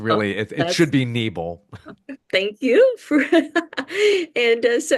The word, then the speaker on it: Nebel: sitting down with Nebel. I hope I pronounced your last name right. We usually use the long E. It's Uh, Nebel, but there oh, there